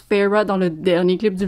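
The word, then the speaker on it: Feyre: qui s'est développé entre Faro j'ai appris c'est un peu tard pour apprendre que ça se prononce Peyrat dans le dernier clip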